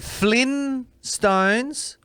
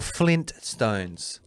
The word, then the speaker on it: Flintstones: Is it Flynn Stones or Flint Stones? T to me.